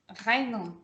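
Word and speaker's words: غين: It's here, right? Deep in the throat. Ghaynun.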